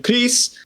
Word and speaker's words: Gris: of an accent and she went, Gris. And that's how I pronounced Gris. Yep. Yeah. It means grey in Spanish.